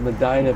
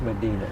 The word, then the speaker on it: Medina: But back in Ohio, we were uneducated about pronunciation, so we just said Medina, but out here it's Medina.